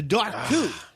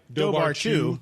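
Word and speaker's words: Dobhar-chú: anybody gonna try okay that would be the doc two yep the time even though it looks like dobar chew yeah dark dark all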